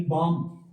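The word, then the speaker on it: balm: वो ये है आपके पास एक वर्ड आ जाता है जी बाम। बी ए एल एम बाम। तो ये आपके पास स्ट्रोक है। एल साइलेंट है आपके पास।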